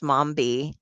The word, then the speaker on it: Momi: on and I because her name is Momi and that rhymes with zombie.